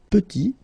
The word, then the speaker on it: petit: Final T is not pronounced, and then when you add this E at the end, you get the sound T, T, petite.